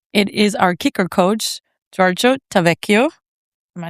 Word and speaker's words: Giorgio Tavecchio: It is our kicker coach, Giorgio Tavecchio.